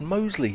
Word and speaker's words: Mousley: we've been calling him mousley likes his name to be pronounced mostly As in the area of Birmingham so thanks for that